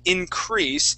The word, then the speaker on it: increase: Now in this word, the EA in the middle there, of those two vowels, the E is going to receive the action there. Okay, so instead of giving it a long A sound, we would use a long E. So the word would be increase.